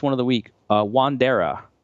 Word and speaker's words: Wandera: good shape last one of the week uh wandera wandera is that how you say it yeah they